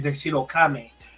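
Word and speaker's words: Tuxedo Kamen: Um, because this dude is tuxedo say the name in Japan. Tuxedo Kame is how they pronounce him.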